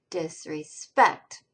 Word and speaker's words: disrespect: So that particular one shows the syllable is more stressed than the unaccented second syllable, but less strongly stressed than the last syllable. Disrespect.